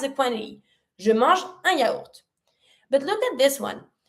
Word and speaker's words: yaourt: Je mange un yaourt, a yogurt. Un yaourt. In this word, you pronounce every letter.